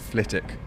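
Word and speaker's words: Flitwick: for the small bedfordshire town of flitick which i've just discovered is pronounced flitik by the train's announcer from there i will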